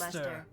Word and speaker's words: Leicester: Lester, pronounced Lester.